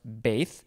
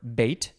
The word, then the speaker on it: beth: have the word well it looks like the word beth b-e-t-h but it is pronounced bathe or bait or base it is a noun